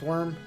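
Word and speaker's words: wyrm: w yrm worm uh which many people still pronounce worm because it is pronounced worm I refuse uh like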